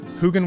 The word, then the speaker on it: Hugin: Hugin with a hard G.